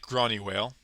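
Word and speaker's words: Gráinne Mhaol: Uh, I'm bad at Celtic pronunciation, but I've listened to enough of the Dubliners to know that that's pronounced something like Gronnywale.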